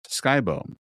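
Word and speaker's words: Skibo: My first dog was bought off the side of the Skip Bow, pronounced Sky Bow, road.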